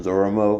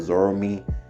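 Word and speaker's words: Zorome: him zorro mo i think i called him zoromo instead of zoromi in one part in the story so i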